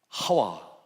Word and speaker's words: 하와: 하와도 맞고 이브도 맞고 다 맞아요. 왜? 하와는 히브리어 발음을 따라갈 때 헤바라는 것이 한글로 하와로 이렇게 됐어요. 써졌어요.